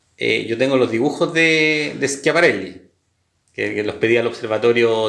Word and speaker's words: Schiaparelli: Por ejemplo, Percival Lowell, con el tema de los canales de Marte, o Schiaparelli, no sé cómo se pronuncia. Schiaparelli. Schiaparelli, correcto.